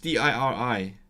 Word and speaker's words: diri: Just D-I-R-I. Okay, it comes from rhif, which means number. So di-rhif is countless. But then they don't pronounce the ending v, so it becomes a diri.